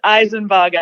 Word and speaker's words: Isenbarger: So how are we pronouncing your name for the record? It is Isenbarger, and it's a bit of adjustment for me coming from.